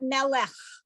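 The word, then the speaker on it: מֶלֶךְ: And because that's the silent vowel, it just makes it ch at the end. So you've got melech.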